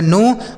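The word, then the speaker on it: know: के एन ओ डब्ल्यू से पढ़ा जाएगा नो मतलब होता है जानना।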